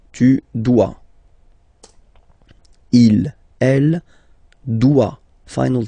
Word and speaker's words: doit: Il, elle, doit. Final T not pronounced. Il doit, elle doit. Okay? So if you have a look at these forms, phonetically they are the same forms. Okay? So doit, doit, and then doit.